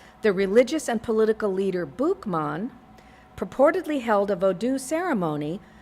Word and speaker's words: Boukman: The name Boukman is thought to be the French pronunciation of his nickname in English, Bookman.